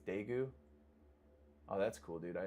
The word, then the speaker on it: Daegu: I'm pronouncing it's Daegu.